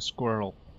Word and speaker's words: squirrel: why why do you why do Americans pronounce it squirrel it's like there's an A in between I'm with you on